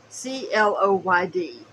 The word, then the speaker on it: Cloyd: can see it so c-l-o-y-d you can either pronounce it cloud or Cloyd depending on um how pretentious you feel like you are at that moment uh says it is